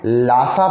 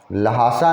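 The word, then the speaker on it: Lhasa: एक जगह का नाम हम आपको इसी चैप्टर में बताए हैं, लासा पढ़ना, लहासा नहीं पढ़ना, एच वहाँ है बट तिब्बतन वर्ड है ना, उसमें वो साइलेंट है वहाँ, उसको लासा पढ़ना।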